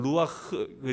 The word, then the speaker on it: 루아흐: 2회 1렙에 d 해서 2 그런 것처럼 이건 루아흐 sch 발음 이거든요 그래서 다시한번 해봅니다 c 오리지날 발음으로